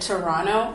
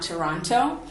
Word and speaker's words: Toronto: Notice that I said Toronto and not Toronto. That's a feature of Canadian English. For T's that are not stressed, they end up sounding more like an N. Like, for example, 20 instead of 20, Toronto instead of Toronto, and enter instead of enter.